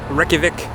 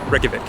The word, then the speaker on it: Reykjavik: go highly highly highly recommend welcome to Reykjavik Iceland did I say that right perfect Reykjavik Reykjavik I think we're trying we always try